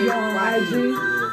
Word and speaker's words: B3AY3: B-A-Y-E. So the E is a 3. B3AY3. But it's pronounced Bay.